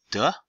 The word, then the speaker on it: 得: So this is day third tone. That means have to. Also can be pronounced as 得 That means again.